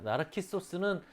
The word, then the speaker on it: 나르키소스: 나르키소스는 그리스식 발음이고요. 우리가 나르시스라고 많이 알고 있죠. 나르시스는 프랑스식으로 읽은 거예요.